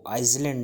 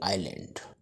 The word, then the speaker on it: island: ये एक लफ्ज़ है ISLAND। इसको आइसलैंड नहीं पढ़ेंगे, इसको पढ़ेंगे आइलैंड।